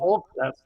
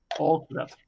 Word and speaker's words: Alclad: Can you spell it? All-Clad. It's ALCLAD. All-Clad.